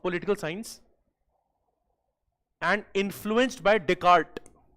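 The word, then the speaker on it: Descartes: He's called Galileo of political science and influenced by Deart say D C A R T E S but S is silent here.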